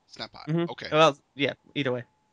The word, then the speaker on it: Snapai: Did I pronounce that correctly? It is Snap Eye. Snap Eye.